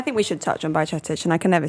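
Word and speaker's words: Bajčetić: period, but I think we should touch on Bajcetic, and I can never say his name right, but we're going to go with that. Bajcetic, yeah. I googled it. You googled it. Go on once more. Bajcetic.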